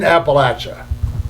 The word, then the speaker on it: Appalachia: mind you you're in Appalachia and by the way that's how you pronounce it anybody who says it any different is wrong it's it's Apple at I'm throwing an Apple at you that's how it's pronounced